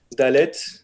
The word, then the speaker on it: Dalet: Dalet. Alors, ça se prononce D. Il n'y a aucune particularité de prononciation.